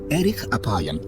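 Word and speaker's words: אֶרֶךְ אַפַּיִם: En hebreo, la frase lento para la ira se pronuncia erich apayam, literalmente de larga nariz.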